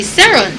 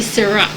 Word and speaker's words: Ceran: If we're going to pronounce it in Guyana, the last name it's Ceran. We would say Saron. However, he taught me a little bit of French, so his last name is really Ceran.